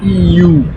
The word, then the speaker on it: Ю: jouer, ce sera comme ça que ça se prononcera. Ensuite, le suivant c'est you.